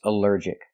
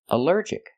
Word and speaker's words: allergic: Our next word is allergic. Allergic is three syllables. Allergic. The stress is on the second syllable. Allergic.